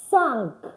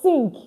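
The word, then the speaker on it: cinq: Five is pronounced as sank. Sank. Sank. So I know you are saying c i n q. And as English speaker you're tempted to say sink or s. It's s.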